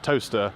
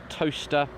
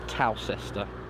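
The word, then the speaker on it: Towcester: in the town of toaster it is actually pronounced toaster for the record I'm a comes officer at cephalad council I can officially tell you it is pronounced toaster not cows Esther we're inside of Andria legends constituency of South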